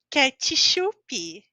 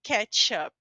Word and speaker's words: ketchup: não tem vogal então a pronúncia dessa palavra é ketchup ketchup vocês podem acreditar é verdade é assim que se fala então eu estou eliminando aqui porque obviamente não escrevemos mas na hora de falar você não pode falar como ketchup ou uma coisa assim nós em português inclusive as palavras que vem de outras idiomas nós passamos para a pronúncia do português então nós falamos ketchup próxima letra letra L quando